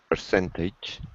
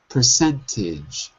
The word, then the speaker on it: percentage: Percentage. Not a, I. Ah. Percentage.